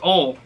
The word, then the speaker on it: oil: Is it pronounced oil or ol? Oil. It's ol. Oil. Ol. If you're in the country, you say ol.